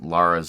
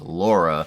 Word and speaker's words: Lara: A lot of Brits in particular like to just complain about Americans pronouncing Lara's name as Laura, but even the characters in the game don't pronounce it consistently. Some say Laura, some say Lara, and sometimes they swap